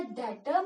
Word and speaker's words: debt: जैसे यहाँ पे हमने बोला था डेटर में बी साइलेंट था, वैसे यहाँ पे डेट में भी क्या होता है, बी साइलेंट।